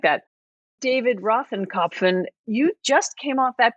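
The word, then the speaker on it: Rothkopf: How did you pronounce the last name? I think it's Rothrop, something like that. David Rothenkopf, you just came off that podcast.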